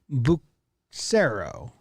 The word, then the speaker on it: Bucero: Jared Wells, Drew Kempen, Eric Branke, Owen Spino, or Spino, Eric Howard, Jeff Cronin, Serena Marie, Nico Bucero, going soft C on that one, Maxwell Bond, Alan Davenport, Andrew Johnston.